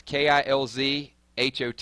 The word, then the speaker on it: KILZ: they put KILLZ, but it's KILZ HOT. It's kind of the way you enunciate it. So it's kill shot, but the Z just kind of flows.